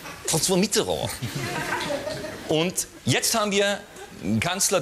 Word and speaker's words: François Mitterrand: Das ist übrigens die korrekte Aussprache des Namens. Ja? François Mitterrand.